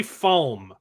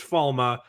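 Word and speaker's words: Falme: Why do they say Falm? It sounds so silly when they say Falm. It's pronounced Falma.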